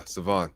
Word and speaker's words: Sivan: Did I pronounce that right, brother? Sivan? Yeah, Sivan.